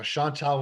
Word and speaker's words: Chantale: Now, Chantale with a silent E on the end, That's because a lot of right. people forget that.